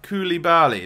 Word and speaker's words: Koulibaly: Koulibaly, that's how you say it.